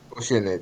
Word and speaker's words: Oceanid: the uh oceanid said oceanid yeah oceanid yeah like the ocean qu let's Pon try